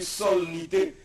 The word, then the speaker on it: solennité: Bon, on écrit solennité, on prononce solennité.